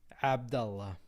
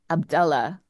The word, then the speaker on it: Abdullah: pronounce it again the way you you would pronounce it Abdullah Abdullah Abdullah yeah okay we go it's a minor